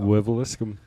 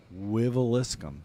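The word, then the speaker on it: Wiveliscombe: I feel like I can pronounce the city that they're from, and I've never even seen it spelled out. Wiveliscum. Wiveliscum.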